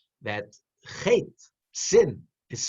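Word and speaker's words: חטא: But the Aleph is silent. You don't pronounce it.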